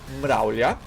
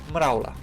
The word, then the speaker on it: mravlja: It is spelled and is pronounced mravlja, correct? Everybody says mravla, because we're not used to using the J that often in the context that